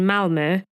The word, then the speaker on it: Malmö: So, the National Authority of Police Court Cases in Malmö put a team together to scrutinise the entire Quick investigation and set up an inquiry.